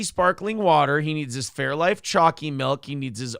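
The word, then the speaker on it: Fairlife: there fairy life oh Fairy like no that's not how you pronounce it it's fair life I I'm horrible with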